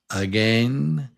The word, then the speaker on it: again: Rain again. And it's a long A like the word cane.